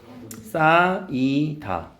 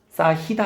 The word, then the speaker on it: 쌓이다: 쌓이다. 발음은 쌓이다. 알겠지? 쌓이다 아니야.